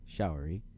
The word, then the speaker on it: Showery: her roommate Alan showery showery it's a shower with a Y showery had been possessed that